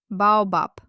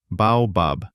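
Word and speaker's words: баобаб: Because at the end of a word, Russian consonants are devoiced. It's the law of conserving energy. We don't have time to ring at the end of a word. We just gently breathe it out. Let's try together. Start voiced, end voiceless. Baobap. Baobab. I mean, baobap. Wow. What if I refuse to change it and say it voiced, like baobab? You'll be understood, but it will sound with a very heavy foreign accent.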